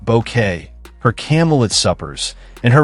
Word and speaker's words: Bucket: Her insistence that her surname be pronounced bouquet, her camelid suppers, and